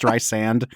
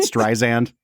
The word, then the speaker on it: Streisand: the kid about how it's pronounced Streisand and not Streisand.